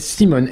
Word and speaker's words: Symone: C'est une start-up française qui s'appelle Simone, S-Y-M-O-N-E. Je le prononce à la française. Oui, moi je le dirais Simone parce que j'ai envie de dire en voiture Simone.